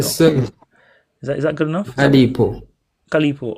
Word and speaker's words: Calipo: Calipo. Oh, I thought the PH Calipo, was like enough. Calipo. Okay, so he's not PH like f. Okay. Calipo.